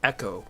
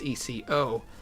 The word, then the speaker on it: Eco: bought these these games, I was calling it Echo Quest because it's ECO. Someone on the Sierra forums corrected me and said that's probably pronounced eco, which makes way more